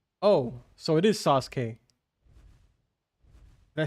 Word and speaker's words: Sasuke: The U is silent. Oh, so it is Sasuke.